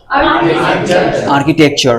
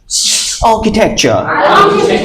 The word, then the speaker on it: architecture: চেষ্টা করব এখান থেকে এই ওয়ার্ডটাকে আমরা আসলে কি বলতাম আর্কিটেকচার এখন থেকে আর্কিটেকচার বলবো নাকি অন্য কিছু বলবো আমার সাথে সাথে বলো আঁখি একটু আগে আ শিখলাম না বড় করে বলো আ আ আ আ আঁখি টেক architecture আঁখি টেক architecture architecture